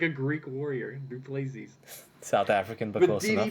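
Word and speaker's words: du Plessis: Just say Duplessis. Duplessis. Whatever, man. Sure. He's like a Greek warrior. Duplessis.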